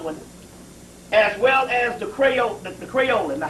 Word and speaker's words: Creolin: Crayolan. Crayolan cleanser.